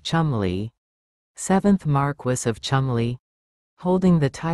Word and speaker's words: Cholmondeley: Sarah Rose Hanbury, or Sarah Rose Cholmondeley, was the wife of David Cholmondeley, pronounced Cholmondeley, 7th Marquess of Cholmondeley.